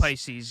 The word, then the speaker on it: Pisces: It's Pisces, yeah.